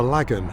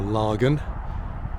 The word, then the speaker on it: Lagan: docks at Belfast to the river Lagan or Lagan and how you want to pronounce it so we're looking back